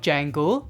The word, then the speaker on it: Django: Then I have Django, the D is silent, Greedo, who shot first,